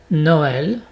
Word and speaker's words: Noël: Exemple, Noël et pas Noël. Noël. Et on prononce comme un E accent grave aussi, donc E, Noël, mais ça s'écrit avec deux petits points sur le E.